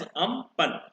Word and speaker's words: Amphan: Thailand एक जो country है उसने इस साइक्लोन को नाम दिया है अम्पन, which is pronounced as अम्पन.